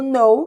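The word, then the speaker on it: know: dizer saber conhecer e repare aqui que a letra k é muda na pronúncia sempre que tiver a letra k no início da palavra e depois do café a letra n o k vai ser mudo Ok então não diga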